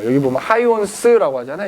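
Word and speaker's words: Huygens: 그렇지 어 여기 보면 하이원스 하잖아 이거 이제 네덜란드 발음을 호이겐스 고도 했어 옛날에는 그래서 하이원스 호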